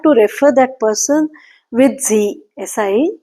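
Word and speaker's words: Sie: talking formally in German it will be z s i e z and informally if you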